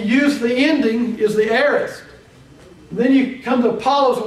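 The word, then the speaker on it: aorist: I planted he used what we call the arist tense now we we probably won't get very much into this but the a is spelled a o r i s t in the English language the aist tense is what we call the simple past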